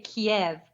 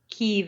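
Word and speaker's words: Kyiv: right I'm learning I'm learning you could say Kiev but that's the Russian pronunciation cave is the Ukrainian pronunciation oh okay all right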